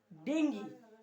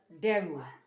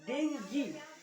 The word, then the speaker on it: dengue: measles, Ebola, COVID-19, dengue, pronounced as dengue. Many persons who have not studied science pronounce it as dengue. It is not dengue. It is not dengue. So dengue, it is dengue.